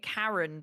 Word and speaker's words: Charon: I've also heard some people call it Charon. Yeah, But what's really funny is when you look at the traditional way that a lot of Greek things were pronounced, it was actually probably pronounced Charon. But I Charon. like saying it Karen because I just think it's funny to be a Karen, basically.